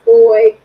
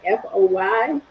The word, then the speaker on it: Fahie: And that's actually on YouTube if people want You just look my name up, Foy, it's F A H I E, but it's pronounced like F O Y.